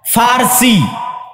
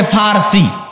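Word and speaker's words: فرس: পারস্য মানে ফারসি। বাংলায় বলে প। কিন্তু ওটাই আরবিতে আছে ফারসি। ফুরস। কেননা আরবিতে পর কোন উচ্চারণ নাই।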